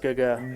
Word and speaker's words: Gaga: It's actually pronounced Gaga.